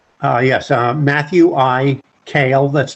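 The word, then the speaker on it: Kaal: for the record uh yes uh Matthew I kale that's spelled k a a l and Mr kale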